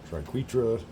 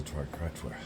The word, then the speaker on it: triquetra: some pronounce it triquetra I've always known it as a triquetra triquetra it's very very very